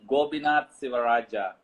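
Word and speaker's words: Gobinath Sivarajah: this bet yes okay uh my name is gobinat sivaraja i got it i think i got it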